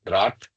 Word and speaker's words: Rath: of his stalwarts, It Gaya is called Prasad Rat. Khare, We lived.